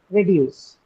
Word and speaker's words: reduce: And it's a verb, reduce. Where is the stress in reduce? Which syllable? You have the in reduce. Where do you mark the stress for that? Second syllable, deuce, right?